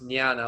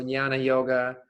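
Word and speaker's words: Jnana: as nyana yoga it's spelled with a j j n a n a but it's pronounced nyana like maniana so nyana yoga self inquiry uh very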